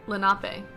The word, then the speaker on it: Lenape: monoprive yeah tldr oh here we go uh pronounced lenape okay um let's see they have remotes they